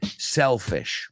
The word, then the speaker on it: selfish: La palabra egoísta es sell, como vender, selfish. Bueno, con una L, pero se pronuncia igual.